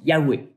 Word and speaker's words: YHWH: Dans les manuscrits originaux, on voit les lettres YHWH qu'on prononce Yahweh.